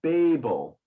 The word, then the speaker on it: Babel: was babylon but we we tend to go babel so the a is open uh and remember english